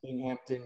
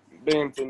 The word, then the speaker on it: Binghamton: dominic he went um over i believe that's hampton university correct yep binghamton yep binghamton binghamton thank you i know i was pronouncing that girls you know i'm an east